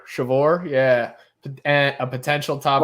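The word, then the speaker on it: Sceviour: Yeah, it's Shavor. Shavor, yeah.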